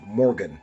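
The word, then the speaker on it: Morguen: and his name is Morgan and that is spelled om m o r gu u e apostrophe n it's like a morg the place where they take the dead people and he is described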